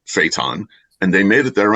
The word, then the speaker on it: Phaeton: And it's spelled Phaeton. And he says, you mispronounced phaeton. I'm like, no, I didn't. He said, it's phaeton.